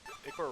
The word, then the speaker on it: ichor: That's pronounced ichor. Choose your ichor wisely.